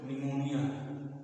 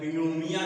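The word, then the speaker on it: pneumonia: निमोनिया आप जानते हो निमोनिया य नी मोनी लेकिन यह प से शुरू होता है इसका उच्चारण नहीं होता यह नोमिया नहीं है निमोनिया आप बच्चों में निमोनिया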